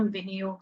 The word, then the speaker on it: विनियोग: शुरू करते हैं हम विनियोग से विनी विनि योग वि नी दोनों ह्रस्व है मात्राएं विनी यो दीर्घ जाएगा ग पूरा विसर्ग का उच्चारण अह की तरह विनी विनियोग ओम अस्य आदित्य